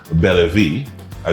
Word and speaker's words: Bella Vie: capitol family her name is zoo she's of bella v i got that spell i got a pronunciation correct that sounds good french is french